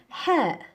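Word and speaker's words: ح: The second one in this group is ha. Ha. The sound is ha. Ha. The sound is ha. It's like blowing hot air.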